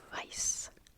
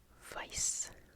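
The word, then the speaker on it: weiß: white in German is vice vice vice um W's in German are pronounced more like V's in English um and this funky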